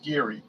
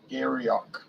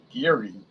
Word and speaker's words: Garioch: says pronounced Geary. Garryock. Geary.